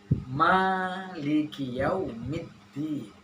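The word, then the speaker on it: مَالِكِ يَوْمِ الدِّينِ: Panjangkah ma-nya atau Maliki Yaumiddin? Ma-nya pendek. Setuju? Memang benar bahwa ma yang ada di dalam surat Al-Fatihah itu panjang. Maliki Yaumiddin.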